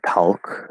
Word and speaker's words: talk: Talk is not talk. It's not. There's no L there. The L is silent.